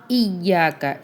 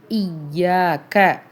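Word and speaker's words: إِيَّاكَ: வாய்ப்பு வரது கம்மிதான் மாலிக்கியமிதீன் இயாக்க இதுல நீங்க தவறு பண்ணலாம் ஏன்னா யா வந்து ஷத்து பெற்றுருக்கு தஷ்தீது பெற்ற எழுத்து எப்பவுமே இரட்டிப்பாகவும் அழுத்தையும் உச்சரிக்க வேண்டும் ஏன்னா அங்க ரெண்டு லெட்டர் இருக்கு இயாக்க இயாக்கபுது ஐன் வந்து நல்லா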